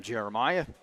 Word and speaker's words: Jeremiah: That's how you pronounce his last name, Jeremiah.